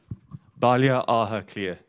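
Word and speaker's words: Baile Átha Cliath: Can you pronounce it for us? Balia Aha Clear.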